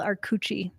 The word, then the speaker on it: Arcucci: So I'm glad that I got you to say your last name because I would have used it as a k sound.